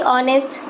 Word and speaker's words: honest: कहीं कहीं पर लेटर H के बाद O हो तो H हमेशा साइलेंट होता है, जैसे HOUR आर, HONEST ऑनेस्ट और HONOUR ऑनर।